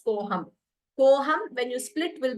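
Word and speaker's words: कोऽहम्: we pronounce we don't there is no special pronunciation for that sign we just read it as koham koham when you split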